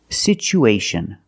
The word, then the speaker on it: situation: So we pronounce it with the ch sound. It's pronounced situ, situation. One situation or two situations. So the second syllable is the long oo like boot and moon. Situ, situation. We have two vowels together, the oo and the a. We need to link these vowels with the sound w, like the W sound, w, together. Situation, situation.